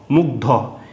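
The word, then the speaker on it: মুগ্ধ: হচ্ছে গ ধয়ে হ্যা যেরকম মসু গ মুখ ধতে ধ মুগধ হ্যা আগে এই জোড়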